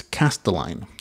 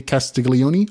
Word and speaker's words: Castelline: It is Castelline. R.J. Castelline. I say Castiglione all the time because I'm Hispanic and I pronounce all the letters, but it is Castelline.